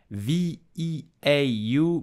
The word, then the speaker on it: veau: In French, V-E-A-U makes the sound veau.